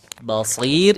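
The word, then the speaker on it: بصير: Nah, basir itu tipis, jangan ditebalin. Basir rnya tipis. Kalau huruf shnya tetap tebal, tapi huruf rnya ti tipis. Wallahu bimaa tammaluna basir. Tuh tipis basir.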